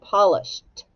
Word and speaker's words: polished: polished his shoes yesterday now say the word polished what sound does the Ed make that's right it makes a t so you put a